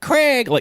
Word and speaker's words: Krieg: Which, not Craig, like Krieg, Krieg, but they pronounce it Craig.